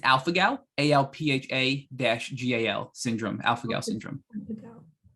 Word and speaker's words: alpha-gal: How do you pronounce that again? It's alpha-gal, ALPHA-GAL syndrome, alpha-gal syndrome.